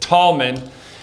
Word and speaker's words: Tallman: Like we have Joaquin Tallman here today.